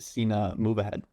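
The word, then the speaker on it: Sina Movahed: I'm going with um the next Iranian wonder kid, Cena Moahad, who actually has the greatest chess name ever if you pronounce it. Cena move ahead.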